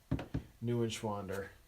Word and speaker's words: Neuenschwander: Neuenschwander. It's probably not the proper German, Swiss German way to say it, but Neuenschwander is probably the right way. But Neuenschwander is how we pronounce it.